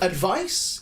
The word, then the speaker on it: advice: one which is very similar but of course pronounced a little differently advise is a verb yes so advice is a noun advise is a verb and